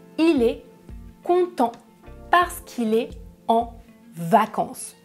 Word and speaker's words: content: troisième personne du pluriel et attention à la fin des verbes à la troisième personne du pluriel on ne prononce jamais -ent il est content ils content numéro 2 comment est-ce que vous prononcez ce mot ?